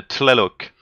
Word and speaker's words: Tlaloc: Mais il faut prononcer le T de la loc. A Tlaloc.